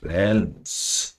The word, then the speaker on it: realm: There are 4 realms, L silent होता है इसमें।